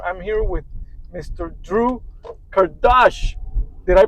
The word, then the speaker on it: Kardash: Estate mindset investor I'm here with Mr Drew Kardash did I pronounce that correctly yes sir Mr Drew Kardashian